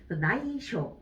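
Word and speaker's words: 内緒: 이쇼니 이끼마쇼 이쇼라고 할 때 들어가는데 이거는 반드시 단음으로 읽어주셔야 되죠. 쇼, 나이쇼, 비밀이라는 의미를 갖고 있죠.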